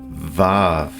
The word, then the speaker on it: Vav: Modern alphabet pronunciation of this letter is Vav, yet it seems the more ancient pronunciation is that of Uau.